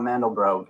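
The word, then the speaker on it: Mandelbrot: term coined by benw mandal bro in 1977 I believe actually mandal bro never heard it pronounced that way thought it was mandal BR but I like mandal bro better first to its number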